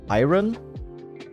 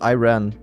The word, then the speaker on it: Iran: But isn't that how they pronounce Iran in English? Iron. Not iron. It's Iran.